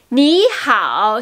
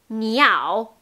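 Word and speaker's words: 你好: Ni hao, si on oublie le H comme ha ha ha, le hao, ça devient niao, niao. C'est plutôt comme la prononciation niao, qui veut dire l'oiseau en mandarin. Donc c'est ni hao, ni hao.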